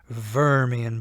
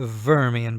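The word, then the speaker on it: Wormian: term for them is vermian Bones you pronounce that W like a v a vermian bone so sometimes you hear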